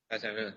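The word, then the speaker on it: 짜장면: Jajangmyeon, yeah. Is I pronounce right? Yes.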